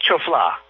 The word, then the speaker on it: Choflá: Is it Choflá? Dr. how do you say your last name, just for the record? It was close. It was Choflá.